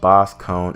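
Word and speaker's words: Boscogn: Visconj is pronounced Boss Cone in the anime. It's French or something.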